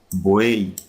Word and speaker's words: buey: Porque la y no se pronuncia como in yate o en yegua, ¿verdad? sino que se pronuncia como il latina, buey, camaraguei.